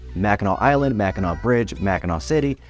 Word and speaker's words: Mackinac: Number nine, it's pronounced Mack-in-aw, and we know that there are two spellings that are pronounced the same way: Mackinac Island, Mackinac Bridge, Mackinac City, Mackinac City, and Mackinac Township, all with different spelling.